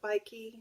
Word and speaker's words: Bikey: Love that bike, and I call it Bikey, which rhymes with Mikey.